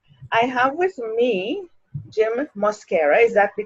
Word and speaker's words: Mosquera: I have with me Jim Mosquera. Is that the correct pronunciation? Yes, it is. Beautiful, Jim Mosquera.